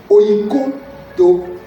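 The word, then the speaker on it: οἰκοδομέω: Alors, vous savez que le mot bâtir en grec, il se prononce oikodomeo.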